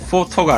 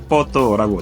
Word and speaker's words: photo: 포토가 아닙니다. photo라고 정확하게 현지 발음으로 해주셔야 합니다.